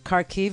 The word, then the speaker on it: Kharkiv: Kharkiv, it is not.